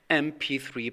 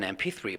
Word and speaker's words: MP3: when you pronounce it MP3 player the first sound that comes out of your mouth is not the M it's m it's like the e in front of the M it's an MP3 player